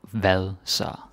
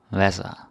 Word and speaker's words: hvad så: And so, the way you say it is sort of like the D, the soft D here is usually not pronounced.